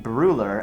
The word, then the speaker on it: Brueller: I say Brueller, and you say? Brueller. Brueller. It's like Austrian. the U. It's the U with the little dots?